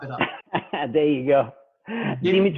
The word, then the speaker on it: Dimitrov: Dimitrov. Dimitrov.